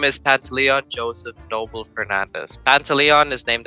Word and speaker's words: Joseph: name is pat leon joseph noble fernandez pantaleon is named after my father's father joseph is actually pronounced jose but i'd never say that that's a bit too